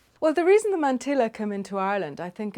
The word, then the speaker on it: mantilla: Well, when we were little in Ireland, it was a mantilla. We had absolutely no idea. It was just this word that we took completely for granted. And of course, the real pronunciation is something more like mantilla.